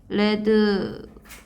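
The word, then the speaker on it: read: 에 위 이렇게 위드는 과거분사 용이 발음만 바뀌어요 원래 리드 라고요 없는데 레드 레드 라고 바뀌는 친구 아 그래서 읽기만 레드 라고 읽으면 됩니다 같은 이제 대충 기틀이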